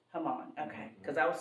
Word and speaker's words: Haman: the king's highest official is it pronounced hamon is that how it's pronounced h a m huh that's right hamon okay cuz I was